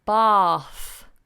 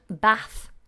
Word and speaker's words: bath: the word bath bath now many people mispronounce this and give me a short ah sound bath bath but you would only pronounce that in British English if you're from the north of England or you might pronounce it this way if you're learning American English which is fine as well but Americans say bath bath